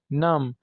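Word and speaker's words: numb: भी B silent है नम सुन होना जैसे उंगलियां सुन हो जाती है या पांव उसमें भी बी साइलेंट है कॉम कंगी करना इसमें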